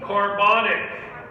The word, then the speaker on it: carbonic: You gotta get a syllable. What's this? What does this become? I already told you the name of it, and you already know the name of it. But carbonic. Yeah, add that extra syllable.